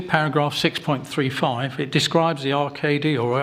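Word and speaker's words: ARCADY: report page 70 paragraph 6.35 it describes the rkd or arcadia now it's pronounced software being used to assess capacity for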